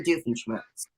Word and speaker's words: Doofenshmirtz: Doofenshmirtz.